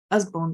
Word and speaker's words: Usborne: So the pronunciation is us as in buzz. Usborne Books.